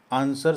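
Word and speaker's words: answer: आंसर शब्द में एक साइलेंट लेटर कौन सा है? साइलेंट अक्षर। जब आप आंसर बोलते हैं, इसमें एन एस इ आर ही साउंड करता है। डब्ल्यू का कोई साउंड नहीं आता।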